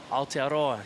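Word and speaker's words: Aotearoa: Alteroa.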